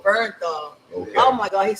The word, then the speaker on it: Bernthal: Bernthal. Bernthal.